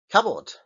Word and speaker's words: cupboard: Cupboard. Cupboard. Si las separo y pongo por un lado cap y por el otro lado board, las pronunciaría de manera distintas. Pero cuando se juntan una palabra, cupboard.